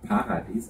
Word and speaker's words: Paradis: Die Gegend, durch die wir jetzt gerade fahren, heißt Paradies, oder wie es auf der Genser in Norwegisch gesagt wird, Paradis, also mit der Betonung auf der ersten Silbe.